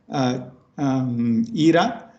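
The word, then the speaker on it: Jira: This is beautifully described by this person, Reinhard Ihra. It's J-I-R-A, but it's pronounced Ihra.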